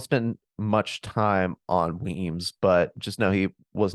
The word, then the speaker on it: Wemyss: It's spelled Wemyss, but it's pronounced Weems. So he sent Weems to deal with Sumter.